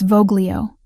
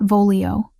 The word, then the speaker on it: voglio: "It's Voglio, not Vololio." soft G like this.